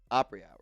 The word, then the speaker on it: Apres Hours: It is spelled funny. It's APRES hours. Opry Hours. If you're like, oh, let me go DM them. It's not O-P-R-E-Y.